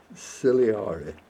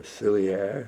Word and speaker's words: ciliare: And this is an Epidendrum ciliare, or ciliare, all depends if you want to pronounce it phonetically, but I use ciliare.